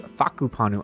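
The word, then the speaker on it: Whakapanu: He's an Islander of how to pronounce this. It's Faku Panu Island is how you're supposed to pronounce it.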